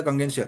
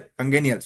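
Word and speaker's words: congenial: जो अपने टिक लगाया था कंगेंशियल, कंगेनियल, वेरी सॉरी, वर्ड का हम प्रोनाउंसिएशन बता रहे हैं। कंगेनियल बोलेंगे हम इसे।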